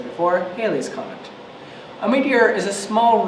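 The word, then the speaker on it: Halley's Comet: tell us what you know about Hal's Comet Haley's Comet as it's pronounced is visible every 75 to 76 years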